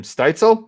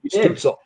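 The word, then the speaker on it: Stützle: couldn't pronounce his name, Steitzel. Is that how you pronounce his name? Stutzel. Tim Stutzel.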